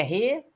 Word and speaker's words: recorde: A palavra, a sílaba tônica é o cor. É uma palavra paroxítona, tudo bem? Não tem acento a palavra recorde, porque não é recorde. É recorde. O cor é o mais forte, tudo bem?